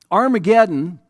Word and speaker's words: Armageddon: And in Hebrew, har, which is what the Hebrew would have said instead of ar, the H is silent in the Greek there, but har meant a mount or a mountain.